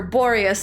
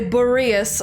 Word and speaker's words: Boreas: while on the topic I realize I've been mispronouncing uh borius yeah I keep calling of the king of ice and winter borius and they say borious uh I like borius